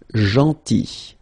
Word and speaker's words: gentil: Then, gentil. So remember, this final L is not pronounced. Gentil.